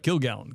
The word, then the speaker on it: Kilgallon: Kilgallon.